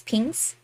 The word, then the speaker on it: PNG: a a PNG tuber which I call a ping tuber because I pronounce pngs as pinks I smell stinky obviously